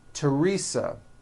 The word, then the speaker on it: Teresa: Although these next words and names are spelled with a TH, they are pronounced as if they were spelled with a normal T, like that. And these words are Thomas, Thompson, Teresa, Thailand, Thames, like the river, Esther, and thyme, which is a spice.